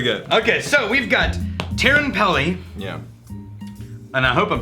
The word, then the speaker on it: Teerenpeli: Okay, so we've got Teerenpeli, Yeah. and I hope I'm pronouncing that right, 10-year-old Finnish whiskey.